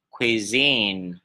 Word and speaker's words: cuisine: Đọc là gì? Khi khi khi này có gì đặc biệt, nó không phải là ông quờ cái gì nha, nó không phải ông quờ mà nó là khờ quờ, có cao mà trước á, khờ khờ khờ.